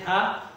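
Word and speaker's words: 他: खूबसूरत single word है था था था, इसे प्रोनाउंस करते हैं था।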